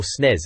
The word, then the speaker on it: SNES: They're known for games like Rock'n'Roll Racing and Earthworm Jim on the SNES, or SNES as some folk pronounce it.